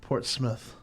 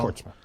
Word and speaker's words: Portsmouth: Apparently, it's pronounced Portsmouth if you live in those parts. Yes. I've been saying it wrong. Portsmouth.